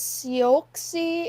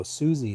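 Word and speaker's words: Siouxsie: be back 6:30ish today it was soy and the Banshees oh Suzie and The Banshees why is it spelled like that s i o u R yeah she spells it funny they're entertainers I don't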